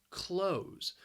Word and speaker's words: clothes: because of that spelling it's just one syllable close close everybody is wearing clothes